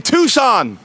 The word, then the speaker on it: Tucson: Hyundai very sexy look at that and I pronounce it properly Tucson see ya good people everywhere I get it